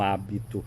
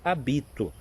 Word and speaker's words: hábito: freira que usam um hábito. Mas a palavra hábito, se você joga, tira o acento do hábito e põe para a segunda sílaba, diz habito, não é?